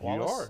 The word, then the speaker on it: Wallis: Am I saying it right, Wallace? You are. Yes.